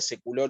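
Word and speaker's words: saecula: y en la segunda secular un Sí en realidad es lo mismo el efecto es el mismo hay que leerlo como un diptongo leerlo como una e sí esto también por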